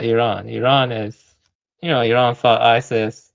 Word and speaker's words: Iran: It's pronounced Iran. I'm gonna call it Iran. Yeah, you can call it whatever you want. If you're gonna call it Iran, then I'm not gonna talk to. All right, let me ask you a question. Do you think there's a difference between Do you think there's a difference? Pronounce the name correctly. It's Iran.